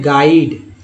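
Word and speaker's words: guide: चलिए अब और देखते हैं यू से रिलेटेड, गाइड में यू आ गया, यू आ गया जी के बाद यू आया, यानी कि यू के पहले जी आया तो यू का साइलेंट हो गया, उच्चारण है गाइड, इसे पढ़ें गिल्ड, क्योंकि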